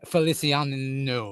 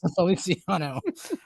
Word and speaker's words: Feliciano: you might have to correct me on the pronunciation of the name but Fel Navidad by Jose Felician is what I got when I I didn't even know who sing it it's felici Feliciano but Feliciano love that song it's